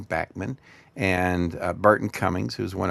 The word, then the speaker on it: Bachman: was first around with Randy Bachman uh who pronounces his name Bachmann and Burton Cummings who's one of my favorite heroes.